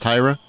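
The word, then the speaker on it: Tyria: to note it's pronounced Tyra it's spelled t y r i a but it's pronounced Tyra she pronounces it herself Tyra I don't so just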